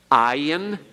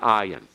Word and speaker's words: ayin: Ayin, Pei, Tzade, Kof, Resh. Now, I might warn you something about the ayin. There are certain situations in which the ayin actually is pronounced almost like a G sound.